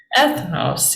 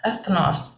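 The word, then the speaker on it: ἔθνος: of the Bible but first just try to pronounce it what is this Faith knows people right ethanos yeah ethnos people um oh I should have had you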